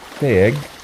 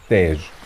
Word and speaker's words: Taj: أمثلة, we said Gabal means mountain, or Tag means crown. In Fosha, pronounced Jabal and Taj.